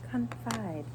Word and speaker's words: confide: this would say what coni confi nice job confide huh I heard you say confide which is